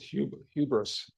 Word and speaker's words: hubris: They have the pronunciation here. It's H. They have an HYOO. Hubris.